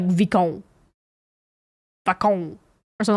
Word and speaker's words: Vicomte: The French do not pronounce the letter like that. Yeah, it would be like Vicomte.